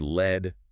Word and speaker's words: lead: And pronounced led rhyming with bed. That's the heavy metal.